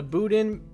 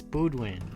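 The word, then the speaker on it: Boudin: The land's signature attraction was the Boden. Balden. Bodin. Baen. How do you say that? I think Baldin Budwin. It's Budwin. It's Buden.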